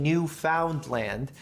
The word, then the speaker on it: Newfoundland: is a Newfoundland and I know it sounds like I'm saying New Finland but I'm saying Newfoundland in a way that